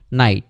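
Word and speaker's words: knight: তাহলে আমরা দেখতে পেলাম যে কোনো একটা ওয়ার্ডের শুরুতে যদি খে তারপরে এন থাকে, তাহলে ফার্স্ট খেটা হচ্ছে উচ্চারণ করা হয় না, আর এন থেকে উচ্চারণ শুরু হয়। যেমন হচ্ছে কি নলেজ নি নাইট, নলেজ মানে হচ্ছে জ্ঞান,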